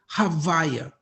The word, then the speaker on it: Havaya: concluding with the Hey, which we mispronounce deliberately, and we call it Havaya.